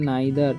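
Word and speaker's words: neither: दे नाइदर, इसे नीदर नहीं पढ़ना है, नाइथर नहीं पढ़ना है, इसे पढ़ना है नाइदर, ठीक है, या नाइदेर नहीं पढ़ना है।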